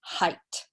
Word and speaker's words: height: yeah one syllable so the gh T is just pronounced as a T okay so height okay very good yes